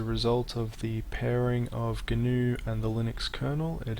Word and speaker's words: GNU: hear people referring to new which is the same thing however they're not pronouncing the g at the start there are many different